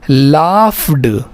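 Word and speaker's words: laughed: ये जो जी एच है ना ये फ़ा पढ़ा जाता है। याद रखिए इसको फ बनता है अंग्रेजी में। हां। जी एच क्या बनेगा? फ बनेगा। जी एच घ नहीं बनेगा।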